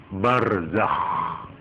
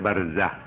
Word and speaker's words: barzakh: yang disebut alam barzakh barzakh itu ejaannya ya barzah Z Zai k harus ngorok Nek Nek Nek moco ngorok barzakh harus begitu supaya kelihatan k gak boleh barzah kalau barzak itu hak